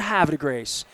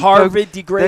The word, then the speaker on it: Havre de Grace: And you even say it correctly. A lot of city folks and Harvard de Grace. They say Harvard or Harvard just Harvard.